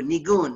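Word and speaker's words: ניגון: Nigun is the Yiddish pronunciation of the Hebrew, nigun, right?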